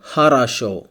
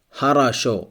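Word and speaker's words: хорошо: it's pronounced like a for example Haro Haro it means good Haro here only the last o is stressed the first and second o are not stressed so it's pronounced like a har Haro next the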